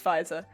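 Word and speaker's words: Pfizer: like pronouncing it well the first time i saw it i thought it was pronounced pizza pizza so i was going around pronouncing it pizza and then i found out that it was fizer so i'm now stuck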